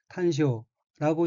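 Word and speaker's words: 端緒: 다음 어휘는 한자가 한국어로 단서이고 각기 끝단 실말이 서자이고 일본어로는 탄쇼라고 읽으며 탄쇼는 단서 실말이란 뜻입니다.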